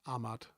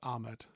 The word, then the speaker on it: Ahmad: Miles says, do I not love when over 60-year-olds pronounce Ahmad as Ahmed?